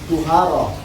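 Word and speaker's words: طهارة: Amat tuharatu anapun utawi lapat tuharah di dhammi kalawan dibaca dhammah dibacanya tuharah.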